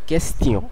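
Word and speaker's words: question: যেমন কোয়েশ্চেন, যদিও ইংলিশে আমরা কোয়েশ্চেন বলি, কিন্তু ফরাসিতে এটা কেস্টিয়ন।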